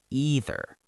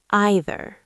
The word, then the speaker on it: either: Some people say either with a long E sound, either. And some people say either, like the word I. Either.